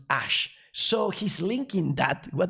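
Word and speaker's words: Æ: you find these things this a and this e here this is pronounced ash so he's linking that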